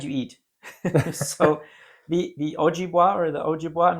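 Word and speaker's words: Ojibwa: So, the the Ojiua or the Ojiua, I'm not sure how how do you say that properly? Ojiua.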